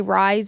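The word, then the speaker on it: Rhys: Some people say Rise. I say Reese. I think it's because I have an uncle named Reese, spelled the same way.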